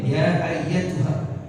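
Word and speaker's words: أيتها: Ayat ini dibaca saat tahlil ya kan kadang-kadang orang baca alimah dengar baca orang baca ya ayyuhanasul mutmain bukan ayyuha ayyatuha ya ya ayyatuha tiib terus ya ayyatuhan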